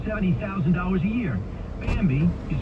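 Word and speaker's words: Bambee: an average of seventy thousand dollars a year bambi you spell it b-a-m-b-e-e was created specifically for small business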